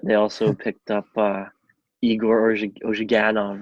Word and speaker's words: Ozhiganov: But they also picked up Igor Ozhiganov, right? Is that how you say it? Yeah, Ozhiganov, like from the KHL.